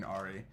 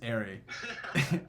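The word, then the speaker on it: Arri: came out and said i pronounced the name wrong earlier i apologize it's curry it's airy it is because i listened to this podcast of the guy from mary and he said stop saying ahri i was like cool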